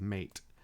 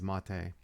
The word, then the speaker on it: MATE: spelled m a and you might hear it pronounced as mate but I do believe the correct pronunciation is mate I prefer the cinnamon desktop mainly because it